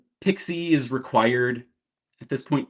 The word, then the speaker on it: PKCE: Um so PKCE is proof key for code exchange. Nobody pronounces it that way. Everybody says Pixie.